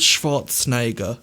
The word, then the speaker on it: Schwarzenegger: Did I say it wrong? You said it a bit wrong, yeah. Right, well, Arnold Schwarzenegger. There you go.